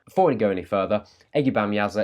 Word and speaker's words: Ege Bamyasi: we go any further eggy bam user is a turkish word it's quite difficult to say there are many different ways people seem to pronounce this record this is the way I'm going with I've done my research and this is what I've ended up on let's not have